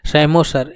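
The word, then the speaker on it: psammosere: बोला जाएगा ऐसे अगर सेमो सर इसमें पी साइलेंट होता है सेमो सर अगर सैंड पे कोस्टल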